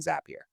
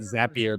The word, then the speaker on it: Zapier: Um, No, I think it's important actually because it's is it not Zapier, but is it Zapier like happier?